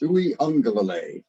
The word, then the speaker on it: Uiagalelei: The Hawaiian name, and that AG right there is pronounced as an ing sound. So it's Uiagalelei.